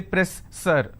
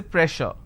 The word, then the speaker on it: pressure: word which is pressure just because i have 2s i can't say press sir i can't say press sir so here double s will become sure sound so i say pressure all right so you